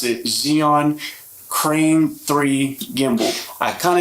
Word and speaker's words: Zhiyun: two today we have the Zion for some pronounced Xenon cream three gimbal I kind of cheated and